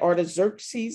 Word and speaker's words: Artaxerxes: i'm not mistaken that's our artist is that artaxerxes is that his name i think i'm saying